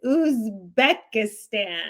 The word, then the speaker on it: Uzbekistan: And no, I remember seeing your YouTube now because you kept saying Uzbekistan. It's a B. It's Uzbekistan. Uzbekistan. Uzbekistan. I'm like, oh my God, this guy is hilarious. Okay, so it's Uzbekistan.